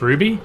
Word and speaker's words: RWBY: Oh, it's pronounced Ruby.